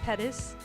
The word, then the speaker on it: Pettis: very own pettis my name is pettis rhymes with lettuce spelled differently we can talk about